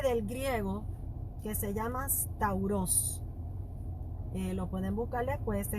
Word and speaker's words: stauros: En cuanto al origen, el origen de la cruz viene, o la palabra, viene del griego que se llama stauros. lo pueden buscar después, se escribe S-T-A-U-R-O-S, Stauros.